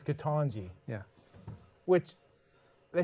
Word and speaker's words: Ketanji: our first topic is tangie brown jackson am i saying it right angie i'm being told by a medical doctor it's katanji yeah which they say